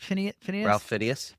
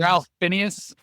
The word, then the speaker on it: Fiennes: How do we pronounce it? Phineas? Ralph Fiennes. Ralph Fiennes.